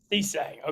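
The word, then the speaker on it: Cissé: Look, getting Chase, how do you say it? Musa Cisse. Cisse. Okay, my bad.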